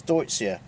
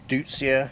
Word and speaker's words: Deutzia: Right, another plant which I favour highly, and yet you hardly ever see anywhere, is Deutzia, or Deutzia, however you like to pronounce it.